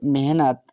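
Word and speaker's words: mehnat: हुआ से यहां पर एम ई एच एन ए टी पढ़ेंगे मेहनत एम से मां ई से ए की मात्र मा एच से ह एन से न ए साइलेंट रहेगा टी से त हुआ मेहनत क्या मेहनत के ए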